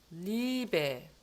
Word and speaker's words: Liebe: Chemie, Liebe. 요거는 그냥 이의 장모음이에요.